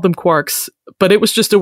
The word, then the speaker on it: quark: Quark. I mean, that's kind of how it's pronounced.